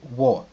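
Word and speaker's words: 我: Donc, pour ce qui est de je en chinois, il va se prononcer wo.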